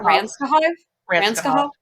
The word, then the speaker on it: Ranskahov: what's up, as Anatoly Ranskahov. Did I say that? Ranskahov? There we go. Yeah. So my brain was like trying to do each syllable, and then it just sounded stupid.